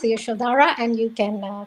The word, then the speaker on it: Yashodhara: Yashodhara. That's easier to pronounce, Yashodhara, and you can call me Yash.